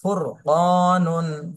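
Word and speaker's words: فُرْقَانٌ: হবে যেমন রিজালুন এরপরে র সাকিন ডানে জবর অথবা পেশ হলে র মোটা করে পড়তে হবে যেমন ফুরকানুন ফারতাব এরপরে র সাকিন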